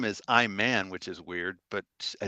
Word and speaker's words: Iman: interest there wasn't it iman iman that's right well it's spelled i man that's all i'm i'm